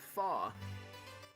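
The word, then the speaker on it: faux: word fox is pronounced faw is in phony oh my bad it's a french word snobby it's a french word snobby people used it means fake or knockoff step one gather your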